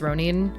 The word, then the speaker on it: Ronin: Um, so it's pronounced it's it's Ronin.